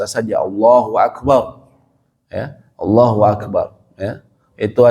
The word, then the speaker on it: Allahu Akbar: Tapi kalau Allah Akbar, nah ini masjid kami ada yang seperti itu sebagian ulama mengatakan tidak boleh. Karena beda Allah. Jadi suatu semacam dua kata yang berbeda. Padahal ini harusnya Allahu Akbar. Karena hu di sini ada fungsinya. Kalau dalam bahasa Arab disebutnya dia mubtada, dia yang dijelaskan itu apa? Allah, gitu kan. Hu di sini ada fungsinya, gitu.